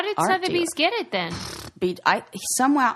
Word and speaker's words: Sotheby's: Sotheby's? Yeah. Sotheby's auction.